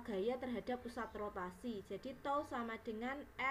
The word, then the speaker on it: tau: jadi momen gaya itu simbolnya seperti ini bacanya adalah tol jadi momen gaya atau